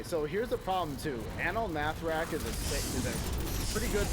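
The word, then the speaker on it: Anaal Nathrakh: What is this Anal Nathrak? Like, no, it's Anal Nathrak.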